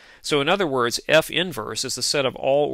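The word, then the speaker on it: f⁻¹: given by the following f inverse which is how we pronounce this symbol f inverse is equal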